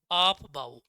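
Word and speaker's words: Aufbau: क्यों ऑफ बाउ? इसकी तो स्पेलिंग भी अलग तरीके की है। सबसे पहले 9th में पढ़ा था हमने इसको। क्या है स्पेलिंग बताना? AUF BAU, है ना। ऑफ बाउ रूल कहते हैं है ना।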